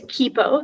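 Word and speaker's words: quipu: the information please sure so the word is kippo that's the only pronunciation it's a noun spanish from quechua it's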